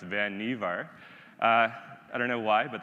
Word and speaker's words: Vannevar: And if you've heard the name before and you're talking about Vannevar Bush, and you hear someone saying that, you can say, well, actually, it's pronounced Vannevar.